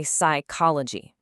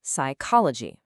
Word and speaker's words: psychology: You don't say psychology. That P at the beginning, it's totally silent. It's a little gift or maybe a curse from the ancient Greek words that English borrowed. So what we actually say is psychology.